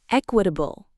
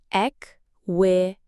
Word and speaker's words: equitable: Word number 8, equitable. Let's check the pronunciation. This one can be tricky. Equitable. bull. 4 syllables. Equitable. The stress is at the beginning.